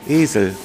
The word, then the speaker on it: Esel: Esel, con doble S. No, Esel, un E largo.